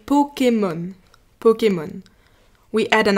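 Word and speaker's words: Pokémon: it's almost the same word we say Pokemon Pokemon we add an accent on the E to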